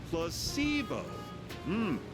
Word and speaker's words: placebo: to our vocabulary today repat after me placeo the stress is on the middle Sy very good you're figing